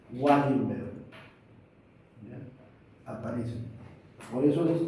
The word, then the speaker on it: Wallenberg: clínica que se llama, no se llama el síndrome de Ballenberg o Wenberg, se escribe con el doble, Wallenberg, ya aparece, por eso